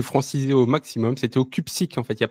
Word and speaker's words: Cupcic: minutes à me dire non, c'est pas CUPSIC, c'est CUPSIC.